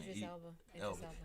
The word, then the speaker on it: Idris Elba: How you pronounce his name? Idris Elba.